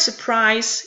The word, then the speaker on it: surprise: The word surprise is different from constant. It's only two syllables. It has three vocals, but it only has two vocal sounds, being two syllables. And the syllables, the first syllable of the word is unstressed, followed by a stressed syllable.